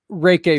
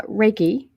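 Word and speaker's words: Reiki: NLP I think that is so awesome uh raik Master can you explain and and I know I mispronounced the word uh my wife is a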